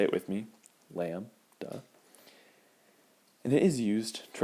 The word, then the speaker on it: lambda: Lambda, say it with me, lambda.